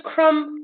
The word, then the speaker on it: crumb: So when you do crumb, lamb, rain, you don't crumb and lamb. You don't actually hear the B in it. You don't go crumb, lamb. You know the B is silent in that.